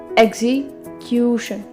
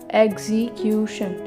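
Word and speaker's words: execution: मतलब सेंटर में, ना तो हम इधर स्ट्रेस देंगे ना हम इधर स्ट्रेस देंगे, सेंटर में स्ट्रेस देंगे, एग्जीक्यूशन, एग्जीक्यूशन, एग्जीक्यूशन, एग्जीक्यूशन।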